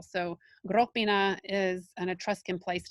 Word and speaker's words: Gropina: They are a giveaway in that they have the accent on the first syllable. Italian uses the accent on the next to last syllable. So Gropina is an Etruscan place